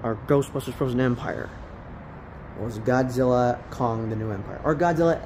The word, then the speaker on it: Godzilla x Kong: Kong the new Empire the x is silent as the Director just calls it Godzilla Kong the new Empire but the X stands